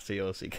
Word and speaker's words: caulk: Yes, I know, not C-O-C-K. Yeah. No, I'm pronouncing it wrong, but you're saying it right.